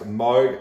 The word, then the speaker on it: Moog: um but freaky facts of course it is pronounced moog and of course we're talking synthesizers here in